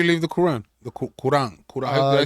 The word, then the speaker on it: Quran: Quran. Did I say it right? Quran.